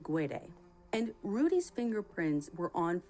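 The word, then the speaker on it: Guede: also hear it pronounced g'day but rudy himself pronounces it gwede and rudy's fingerprints were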